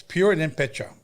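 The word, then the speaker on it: Purépecha: Roll your R. It's Pure and then Pecha.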